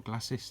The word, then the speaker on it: glacis: build is to get the glacis on the front or glasses depending on how you want to pronounce it that's this plate here